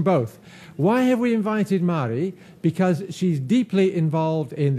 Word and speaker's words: Marie: getting my name right my name is pronounced mari although a lot of english people think it's marie and i always say